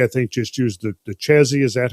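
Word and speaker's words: Chézy: I think just used the Chesy. Is that how you say it? Yeah, Chesy, yeah.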